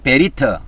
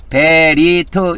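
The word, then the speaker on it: בְּרִית: 그래서이 언약이라는 것을 히브리어로는 베리트 베리트 이렇게 발음합니다.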